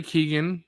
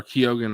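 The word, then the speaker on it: Keoghan: Barry Keegan or Kogan I think is how you pronounce his name.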